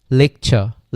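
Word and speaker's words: lecture: তাহলে টি এবং ইউ এর, টির পরে যদি ইউ থাকে এবং টি এর উচ্চারণটা কিসের মতো হয়? চয়ের মতো হয়। যেমন লেকচার, লেকচার, আমি কিন্তু লেকচি ইউ, এইটা দুইটা মিলে কি হয়ে গেছে?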